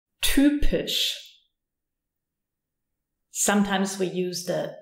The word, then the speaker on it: typisch: Y, pronounced like a Ü. Typisch.